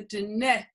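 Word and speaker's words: Diné: much more respectful to say the dinette that means the people didn't d-i-n-e okay good all right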